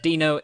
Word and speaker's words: Dino: but nah it's f but um no yes dino is pronounced as d-i-n-o yeah um so i want